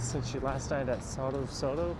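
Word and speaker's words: Sotto Sotto: It's been ages since you last night at Soto Soto. How do you say that? Soto Soto or Soto Soto? S-O-T-T-O, but it's Italian.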